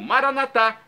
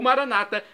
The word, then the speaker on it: Maranata: de Jesus eu clamo Maranata pronúncia católica com a tônica da última sílaba o Maranata pronúncia protestante dos nossos irmãos separados os evangélicos não importa pronúncio significado